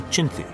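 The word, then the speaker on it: Chinthe: Wingate adopted the Chinti, the mythical beast that guards every Burmese temple, as his force's symbol. But his mispronunciation of the name led to his men being nicknamed the Chindits.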